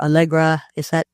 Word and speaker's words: Allegro: Yeah, I think there are probably four ways that you can stand out in a situation like Amazon or Allegra. Am I pronouncing that right?